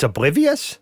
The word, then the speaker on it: Obl1v1ous: I pronounced that Obl1v1ous. It's oblivious?